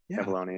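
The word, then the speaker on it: Avallone: is you and um I'm gonna try to pronounce David's last name David Avalon uh avalone avalone avalone yeah yeah yeah yeah yeah David avalone is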